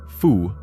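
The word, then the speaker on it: 蝠: The word for bat, fu, sounds like the word for happiness.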